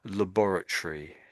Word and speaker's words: laboratory: So, everything else was right, but just the last little bit at the end. You sort of said it the American way. So, laboratory.